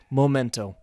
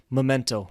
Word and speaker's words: memento: For example, memento, I pronounce it incorrectly. I say momento. So you should say memento, like the correct word.